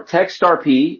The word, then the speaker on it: TextRP: So we are text RP it rhymes with a certain cryptocurrency that I'm very fond of.